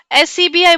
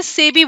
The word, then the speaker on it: SEBI: लेकिन इसको आप बताइए, इसको आप SCBI बोलते हैं कि सेबी बोलते हैं, क्या बोलते हैं बताइए, क्या बोलते हैं इसको। इसको बोलते हैं सेबी, सेब की छोटी बहन सेबी, है ना।